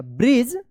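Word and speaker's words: bridge: यहां पे डीजी एक साथ है तो क्या उच्चारण होगा? ज उच्चारण होगा। ब्रिज they talked for अ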